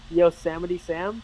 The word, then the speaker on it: Yosemite Sam: sam that's it yeah him just how you pronounce it again yosemite sam yeah sam okay i'm going to just say